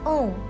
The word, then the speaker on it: Om: Om is pronounced as Om. When we chant Om, chant U part double than A and M.